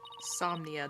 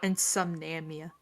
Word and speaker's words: insomnia: Insomnia. That was the word I meant to say. Yeah. Insomnia, not insomnamia.